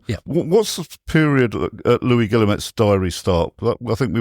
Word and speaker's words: Guillemette: So it's called The People's Messenger, The Occupation Diary of Louis Guilmette, Guillemette. Yeah, another very well written diary and quite comprehensive. Yeah. What's the period Louis Guillemette's diary start?